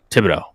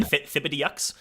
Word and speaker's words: Thibodeaux: Thibodeau. It's actually Tib? Thibodeaux. Is it Thib or Tibbs? It's Tib. Tib.